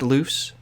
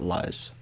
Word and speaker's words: Luz: luce is it pronounced loose yeah i think it's pronounced loose even though there's like a z at the end in in the spelling but i think it is actually pronounced loose not liz i don't know i'll